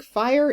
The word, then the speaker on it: fire: Yeah, so I think fire is supposed to be a two-syllable word in Shakespeare's time.